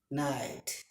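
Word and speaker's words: knight: তারপরে খে আই ন কে এন আই টি নাইট কে এন আই টি নাইট next word K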